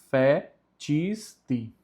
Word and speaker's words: fecisti: O si tem o som de ti, por isso fica fecisti.